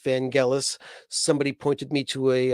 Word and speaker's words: Vangelis: we did somebody asked about vangelis now i pronounced it vangelis but i that's a mispronunciation his name is pronounced van gaalis somebody pointed me to a uh interview with